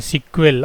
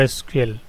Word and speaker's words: SQL: इसे structured query language ही बोलते हैं, यानी सिक्वल और एसक्यूएल।